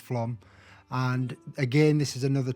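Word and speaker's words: Flåm: was to Flam or as it looks like it's spelled Flam, but it is pronounced Flam.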